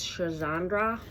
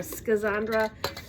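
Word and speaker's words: Schisandra: the next one is Shandra Shandra or skandra depends on who you are where you're from how you pronounce it but these are a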